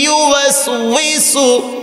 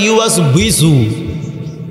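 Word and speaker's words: يُوَسْوِسُ: ইলাহিন নাস মিন শাররিল ওয়াসওয়াসিল খান্নাস আল্লাযী ইউওয়াসউইসু, অনেকে কয় ইউওয়াসবিসু, অধিকাংশ মুসলিম লীগ এটা উচ্চারণ হয় না।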